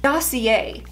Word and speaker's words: Dossier: six times now and i've been saying the name wrong the entire time so i feel like a complete dummy dossier is what it's called and i am obsessed